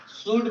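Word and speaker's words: should: the week का बाद शड शड नहीं एल साइलेंट लेटर है शड बोला जाता है द शड अ क्या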